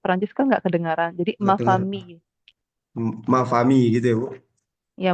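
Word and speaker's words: ma famille: Oh mafami gitu Bu Iya memang fam tapi kan Inya enggak kedengaran kan jadi mafami oh mafami Soalnya di bahasa Jerman ma m famil gu dia Iya my family ya ada tapi kalau di bahasa Perancis karena l-nya dua itu kebacaannya kayak y gitu Oh memang kalau kita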